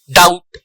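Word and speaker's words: doubt: B silent है, subtle, date, डाउट, इनमें B silent है।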